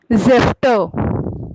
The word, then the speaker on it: Säfte: Der Saft, Der Saft, die die Säfte. Säfte. या, और spelling लिखते वक्त Säfte, SA umlaut FTE.